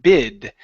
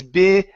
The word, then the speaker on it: big: saying big eyes so you're not pronouncing a g you're pronouncing a d saying bid okay instead of bid it's big big big eyes big big